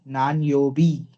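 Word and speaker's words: 何曜日: Nan yo. योबी. नान योबी.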